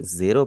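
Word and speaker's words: ゼロ: जीरो को हम Japanese में क्या कहते हैं, रे, मारू, जेरो। और यहाँ पर आप सुन रहे होंगे मैं इसे जीरो नहीं कह रहा, मैं इसे जेरो कह रहा हूँ।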